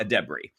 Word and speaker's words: Edebiri: So I think it's Ayo Edebiri.